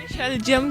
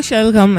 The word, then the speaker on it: शलगम: शलजम क्यों का है? मुझे लगा शायद इसकी प्रोनाउंसिएशन में थोड़ा आता है तो इसलिए। एग्जैक्टली, इसकी प्रोनाउंसिएशन जो करेक्ट है वो शलगम है।